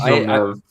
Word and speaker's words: Villeneuve: It is Villeneuve.